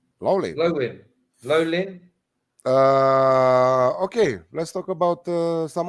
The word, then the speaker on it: Llewellyn: Welsh name, isn't it? Lowlin Smith, Lowlin. Lowlyn.